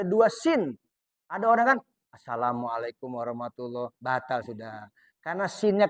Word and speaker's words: Assalamualaikum: jadi bacanya begini Assalamualaikum karena alif lam Sin ada tahdid ada ada Jadi yang benar Asalamualaikum Jadi enggak boleh begini asamualaikum salam atau Asalamualaikum enggak sah karena enggak ada tasdid ada dua Sin ada